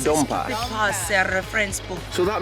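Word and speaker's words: dompas: So this book right here is, how is it pronounced? The Dom Pass. Dom Pass, a reference book.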